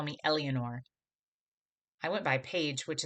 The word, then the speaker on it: Eleanor: every single morning on calling me elianor not only did she call me the wrong name but she mispronounced eleanor that was super frustrating